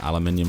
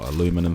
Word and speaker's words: aluminium: And once that's done, wrap this up nice and tight with some aluminium foil or aluminum foil, however you want to pronounce it.